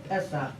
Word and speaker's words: Pesach: Pesach.